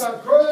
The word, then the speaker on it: Köln: Cologne is on the Rhine River, and Cologne is actually use the pronounced Grace, Köln.